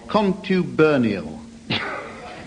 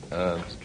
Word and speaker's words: contubernial: Graham, your definition, please, of contubernial. Easy. Contube. Is that just as it's... contubernal? Yes. Well, yes, in fact, you pronounce it contubernial.